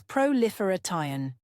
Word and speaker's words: proliferation: Pronounce it as proliferation, with stress on the third syllable.